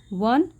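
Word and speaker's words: won: विन की third form वन, second form भी वन ही होती है और इसकी प्रोनाउंसिएशन वन होती है।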